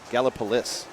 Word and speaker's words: Gallipolis: We also have the really oddly inflected Gallipolis with the accent on the is. Gallipolis.